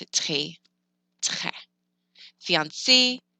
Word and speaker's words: fiancé: So think of fiancé, or think of the singer Beyonce. That E on the end gets pronounced. If you forget it, then that person would just be fiancé, and that's sad.